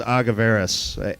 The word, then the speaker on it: Agaverus: no no judgment here it's a madeup Spanish word that we came up with anyway so you know